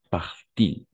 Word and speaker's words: parle-t-il: Et tu l'as bien prononcé ici parce qu'en effet, on va prononcer par-t-il, par-t-il. En effet, on va prononcer dans ces cas-là, til.